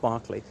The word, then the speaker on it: Berkeley: I know it looks like Berkeley, but pronounced Barkley.